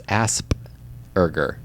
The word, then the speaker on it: Asperger: It's Asperger.